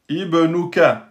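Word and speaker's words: ابْنُكَ: Donc là c'est bien Ibnuka même si la troisème lettre est une damma.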